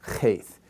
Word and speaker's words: cheth: And this is the letter in the Phoenician alphabet for cheth. And it was a guttural and was for the back vellum, and it was very harsh, and it had an aspirated element to it, okay?